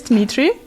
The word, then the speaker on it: Dmitry: My guest today is Dmitry. Is it pronounced right? Yes. How do I pronounce it better? Dmitry?